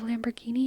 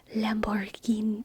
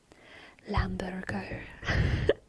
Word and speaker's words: Lamborghini: where I'm just like, Lamborghini. They always mispronounce it in like some hilarious way. Lamborghini. Tap, tap, tap, tap, tap, tap, tap. Lamburger. Lamburger. Yes.